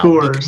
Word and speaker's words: Coors: Coors. It's like core. It's like you work the core of your body out.